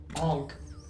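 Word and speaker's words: ankh: the launch you're right just how we pronounces it oh okay onch like a like an Egyptian Punk alien you know the symbol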